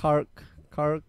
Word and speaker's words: Krark: Kark Clan? Krak, I think. Crack. No, it's Kark Clan.